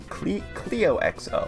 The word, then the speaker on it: CleoXO: So the username is weird. It's pronounced CleoXO. CleoXO.